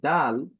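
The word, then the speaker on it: دال: সহজ আল আবারো যদি বলি দা আল এই দাল যদি আমরা বিভিন্ন উচ্চারণের দিকে যাই সেটি হচ্ছে দা দি দু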